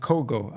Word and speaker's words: Kogo: Oh, it's pronounced Kogo. Okay. Kogat is pronounced Kogo. Okay, I see.